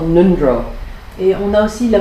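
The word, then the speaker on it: ngöndro: Nundro is in Tibetan, it's spelled with an NJ in the beginning. Donc attention, en tibétain c'est NG au début, pas N.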